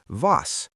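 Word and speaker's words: was: In German, W always sounds like V. Here are two examples. Vine, which means wine, and vas, which means what?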